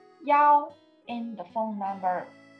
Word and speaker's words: 幺: His number 一。We often pronounce 幺 in the phone number.